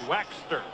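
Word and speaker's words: Waechter: us to say it waxster it's like it was w-a-x-t-e-r how's that for trying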